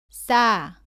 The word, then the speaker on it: 싸: 발음은 사와 비슷한데 목에 힘을 주고 조금 더 세게 발음합니다. 공기가 나오지 않도록 발음합니다. 따라해 보세요. 싸, 싸.